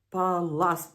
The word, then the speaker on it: паласт: Прати можна талар, бо це звичайна манція, а от не можна прати паласт. Паласт. От зараз я правильно зробила наголос, тому що це оксомитовий